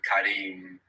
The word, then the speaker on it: كريم: There's a long vowel on Kareem. أنا كريم.